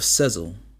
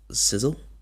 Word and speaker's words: Sezzle: I was like, Sizzle? Sezzle? I was seriously confused on how they supposed to pronounce that.